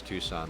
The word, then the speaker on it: Tucson: oldest nicknames and yeah pronounce Tucson like the city okay cool it is